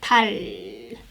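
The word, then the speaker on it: 탈: this one right and if you end the syllable like this with this it sounds like your tongue slightly touches behind your upper teeth like tal thai it means the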